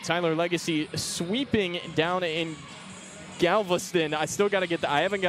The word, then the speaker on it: Galveston: I always thought it was Galveston growing up. It's not Galveston, Galveston. I got to figure that one out.